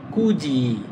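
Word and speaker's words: 굳이: তখন এটা হবে কুজি। কুজি মানে ইচ্ছাকৃতভাবে। এই দেখেন এখানে কিন্তু ত উচ্চারিত হবে না। তখন এটা উচ্চারিত হবে জ।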